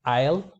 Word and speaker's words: aisle: am or I've item aisle notice how the the S is silent island also not Iceland